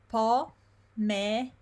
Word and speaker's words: pomeriggio: Pomeriggio, pomeriggio. And you need to remember that the I here is silent.